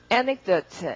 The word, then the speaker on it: anecdote: anecdote 이렇게요. 이렇게 강세 넣고 뒤에 말은 강세받는 말이 훨씬 시간이 길죠. anecdote 뒤에는 막 우르르 뭉개져가지고 anecdote 이렇게 읽으면 되겠습니다.